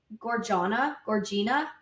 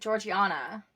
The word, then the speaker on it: Georgiana: But isn't it Gorgina? Oh, it's like Georgiana. Georgiana, that's it.